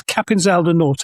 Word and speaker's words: Capinzal do Norte: And now this is, and you have to forgive my terrible pronunciation, so this is Capinzal do Norte, I think. Yes, you pronounce it correctly. Shifting north of Brazil to Capinzal do Norte, Maranhão's quiet interior town of 11,000 inhabitants.